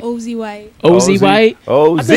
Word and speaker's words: Ozzie Whyte: Oh, it's Azie White. Ozie White. Ozie White. Did I say your name wrong the whole time?